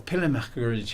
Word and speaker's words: pèlerinage: Or pèlerinage. How do you say it in French? Pèlerinage en français.